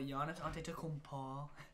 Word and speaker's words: Giannis Antetokounmpo: John Wall, Bradley Beal, Giannis Antetokounmpo. That's a pretty good pronunciation.